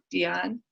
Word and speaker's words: Deion: How do you pronounce his name again? Dion.